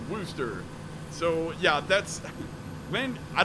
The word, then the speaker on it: Worcester: be there in about an hour I'm passing Worchester he's like Daniel Daniel don't and don't call it Worchester that's just so wrong you will yeah you'll get called out as a foreigner immediately it's pronounced rooster so yeah that's when I don't know Blanca's